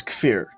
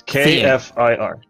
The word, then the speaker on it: Kfir: In order to pronounce that, okay. Say the word fuck. Fuck. Cucumber. Fuck. Okay. Fuck. And there you go. Now say the word fear. Fear. Fear. There you go. Now say them together.